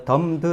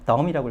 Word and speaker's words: dumb: dumbed 아닙니다. 예, dumb라고 그래서 dumb이 형용사로 벙어리의 이런 뜻이에요. 말 못하는 이런 뜻이죠. 그 mb가 겹치면 뭘 해석하지 않는다? 예, b를 읽지 않습니다. 그래서 규칙이 있기 때문에 dumb이라고 읽으셔야 돼요.